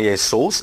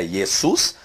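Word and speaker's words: Ἰησοῦς: transação do grego mas não é yesos é yesus a pronúncia no Encontro do ôro com Y tem o som de u foi isso que ele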